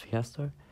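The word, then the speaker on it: Pasito: Okay, haven't had is Kirk's Piasto, yeah. That's how you say it, Kirk's Piasto.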